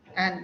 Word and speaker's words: and: So when and comes in between, the D is not heard at all. Be very careful about the pronunciation of and. Okay? And Yeah. D. Sure. And like, then of course.